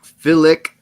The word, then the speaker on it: Filick: Chuck Filick. He said it. You say it like feel it, so it'd be Filick.